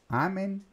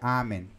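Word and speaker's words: amen: o acento no ar amém amém fica fácil de saber porquê porque em latim não existe oxítona ou seja a última sílaba nunca é mais forte nunca é mais forte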